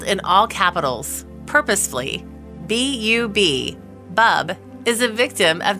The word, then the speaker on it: Bub: Her name is spelled in all capitals, purposefully, B-U-B, Bub, is a victim of genetic abnormalities since birth and has conditions like dwarfism and mismatched jaw.